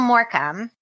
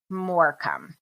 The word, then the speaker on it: Morcombe: short vowel not like morom so what does that mean then so I think it's saying more calm more the last O is a short vowel maybe okay disappeared from